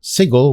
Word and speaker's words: Sigil: may recognize and they mod sigle which I didn't know that's how Americans pronounce it yeah and uh and